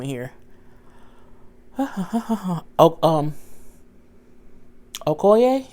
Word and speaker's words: Okoye: name in here um Okoye is oh it's okay oh ye her as a general